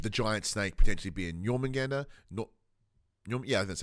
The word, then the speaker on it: Jormungandr: With the giant snake potentially being Jormungandr. Yeah, that's how you pronounce it.